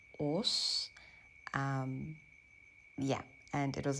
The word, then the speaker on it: Ås: town I was going to which is actually pronounced OS um yeah and it was a beautiful train